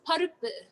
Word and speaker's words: Paruppu: It's parupu. Like, I guess if I had to spell it in English, it would be Paruppu. I think is parupu.